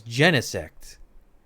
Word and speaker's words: Genesect: I pronounce it Genesect because I think of like gene and insect. It seems to roll off, but I've seen people pronounce it as Genesect, as in genetic, which also makes sense.